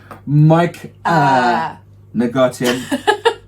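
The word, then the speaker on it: Mike'A Negotium: The official pronunciation, Mike Negotium on the mission.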